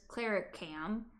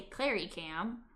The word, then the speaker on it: Clary Cam: And the way that I say my name, Cl instead of Clara Cam, I say Clary Cam.